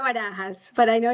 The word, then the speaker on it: Barajas: guest today is barbaris I think I got that right um almost how you your name no it's it's okay it's wahas but I know it's